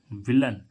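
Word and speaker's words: villain: जैसे वी I double L ए आई एन, विलन। विलन means क्या होता है? खलनायक। विलन मीन्स क्या होता है? खलनायक। इसको क्या पढ़ेंगे? विलेन नहीं पढ़ेंगे।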